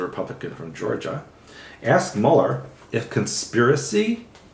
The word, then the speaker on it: Mueller: Counsel Robert Mueller endoscopy will pronounce it Muller budgets a German name and it's Mueller and he was completely